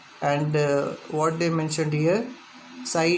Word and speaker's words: psi: It is that psi, psi. Okay, we pronounce it as the psi.